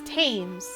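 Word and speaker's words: Thames: Tames. It's Tames. Like those people who pronounce it Neanderl.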